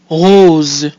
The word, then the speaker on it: rose: and we get Israel rose rose so we have the combination o e which gives us our closed o o and the combination OS e together is pronounced o so that gives us